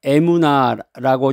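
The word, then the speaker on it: אמונה: 믿음을 히브리어로 에무나라고 이제 발음하는데이 단어는이 믿음이라는 말은 단순한 동의나 확신을 넘어서 신뢰하다, 충실하다, 견고 견고함을 갖다 이런 의미가 있습니다.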